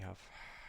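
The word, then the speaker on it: ح: We have ha. Ha. And it's pronounced h. It's comes from the back of the throat.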